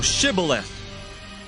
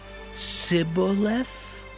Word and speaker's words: Shibboleth: Then said they unto him, Say now, Shibboleth. And he said, Sibboleth? For he could not frame to pronounce it right.